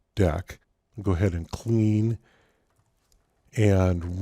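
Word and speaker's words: deque: double-ended q and so it's spelled like that but it's typically pronounced deck go ahead and clean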